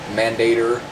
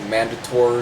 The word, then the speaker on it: Mandator: that's pretty much hell is uh pronounced mandator always thought it was mandatory or something but but this is